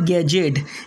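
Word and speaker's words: gadget: इसके बाद में एज और बजट और गैजेट, यानी इसे हमने बजट पढ़ना है, एज पढ़ना है, गैजेट पढ़ना है।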